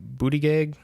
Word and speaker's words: Buttigieg: Pete, I don't know how to pronounce his last name. Buttigieg.